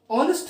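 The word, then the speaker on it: honest: ऑनेस्ट मैन, एच लगा हुआ है जो कॉन्सोनेंट है,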